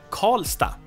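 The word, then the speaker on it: Karlstad: Swedish but in most city names you would pronounce it as stop so in this case we have call stop the city of or town I mean Sweden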